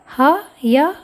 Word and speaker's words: ह्यः: पहले हकार है, अतः उच्चारण करते समय ध्यान रखेंगे। थोड़ा उच्चारण कठिन है पर अभ्यास करने से ये भी सहज हो जाएगा। उच्चारण होगा ह्यः ह्यः, पहले ह बोलना है फिर य बोलना है।